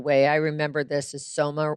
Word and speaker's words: Soma: I remember this is Soma rhymes with coma because people can get barely buzzed on that drug.